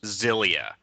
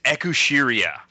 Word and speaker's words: Xillia: It bugs me so much that Xillia in English should be pronounced Zilia. Yep. But the phonetic Japanese on the box is Ekushiria or Exilia, and that bugs me so much.